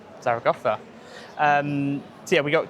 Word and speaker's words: Zaragoza: north now to Zara I'm going to say they're going to pronounce it Zaraga. It's Zarraa. Zarotha.